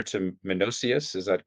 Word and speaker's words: Menoeceus: And then when I read, and please again for help me if I pronounce letter to Menocius. Is that correct? The correct pronunciation? Sure. Menocius.